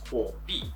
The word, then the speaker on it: Huobi: And if you want to pronounce it in Chinese, it's Huobi. And if you want to directly translate from Chinese to English, it's called Firecoin.